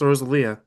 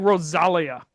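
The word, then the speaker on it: Rosalía: It's pronounced Rosalia. Why is it Why does it look like Rosalia?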